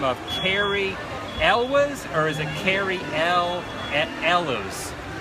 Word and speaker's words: Elwes: So we have a discussion Or going on, elves. and it's actually Elwes. Elwes? It sounds Yeah. Welsh or something.